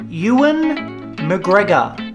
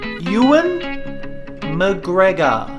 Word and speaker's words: Ewan McGregor: doin McGregor which you've easily mistake it's actually pronounced Ewan McGregor a bit slower now Ewan McGregor and for the last one we've got a